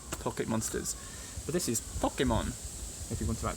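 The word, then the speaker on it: ぽけもん: This one, see the little circle? That's from the H row. H, ho. So that's po, ke, mo, n. Po, ke, mo, n.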